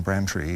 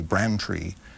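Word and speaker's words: Braintree: was born in in bran tree or brain tree as it seems to spell but the locals say bran tree Massachusetts near on the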